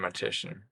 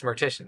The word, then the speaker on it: Mortician: So, I have met and Roger from Matition. From Meritian? Yeah, it's Mortician. That's how you say it.